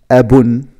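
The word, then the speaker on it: أبٌ: And the second word, it's abun, abun, which mean father, father. Well, babun, abun, babun, abun.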